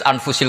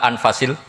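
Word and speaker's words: أنفس: saja di sini ditulis anfusil kutubu saya baca anfasil kutub karena maknanya kitab ter baik Kalau kitab terbaik bacanya bukan anfus tapi apa anfas ya nanti kamu debat sendirilah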